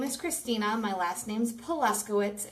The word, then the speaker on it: Paluszkiewicz: My last name's Polaskowitz.